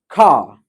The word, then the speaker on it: car: So here in car, I'm not pronouncing R. It's R. That's it. Car.